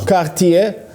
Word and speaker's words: Cartier: that what kind of watch is that Cartier Cartier yeah you gotta say it like that and